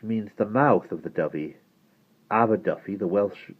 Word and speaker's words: Dovey: "Written in English, Dovey." "The Affendiffy River is the River Dovey, and that place over there is called Aberdovey, which means the mouth of the Dovey.